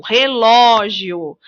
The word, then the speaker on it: relógio: Vejam, relógio. No caso da palavra relógio, o ló é a sílaba mais forte, é a sílaba tônica da palavra.